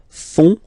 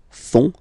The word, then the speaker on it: font: And ils, plural, font, final T not pronounced, font, font, elles font.